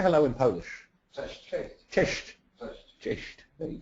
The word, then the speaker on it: Cześć: Cześć. Cześć. Cześć. Cześć. There you go, Chish.